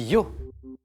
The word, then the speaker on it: Io: Et ça s'écrit Io. Hein, je m'adresse aux plus jeunes d'entre nous, amateurs de rap, de Smurf et Dieu sait quoi encore. C'est Yo-I-O, c'est un autre Yo.